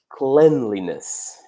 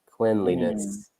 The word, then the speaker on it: cleanliness: sense we actually say cleanliness it's a different spelling and also the pronunciation is a bit off because we don't say clean but clen cleanliness I don't spend I